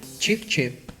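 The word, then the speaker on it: chíp chíp: the steamed chip chip the dish is pronounced chip chip but it's actually not cheap our Manu was developed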